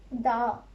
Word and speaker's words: dağ: And last one, mountain, dağ, dağ. Little bit of stretch, dağ.